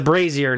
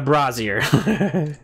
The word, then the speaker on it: brazier: wrong it's not a it's a brazier not a brassiere yeah Landon's not sifting